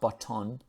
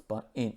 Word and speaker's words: button: The mechanical, so this is mechanical, the mechanical home button, it's not button, it's button, so that there is the schwa sound, button was ditched last year in favor of a fixed pad with haptic feedback.